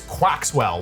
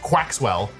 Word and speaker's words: Quaxwell: 981 is Quaxwell, one of the stupidest names. Surely people agree with me on that. Surely that's not a hot take. Quaxwell. It's like Maxwell, but Quax.